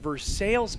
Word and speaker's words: Versailles: Met somebody the other day from Versailles, Kentucky, and it's spelled exactly like the Palace of Versailles in France. I was quickly corrected.